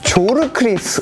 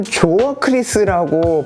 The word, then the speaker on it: Zorkryth: 조르크리스 혹은 조어크리스라고 발음을 할 수가 있을 것 같은 생소한 이름의 신생 브랜드입니다.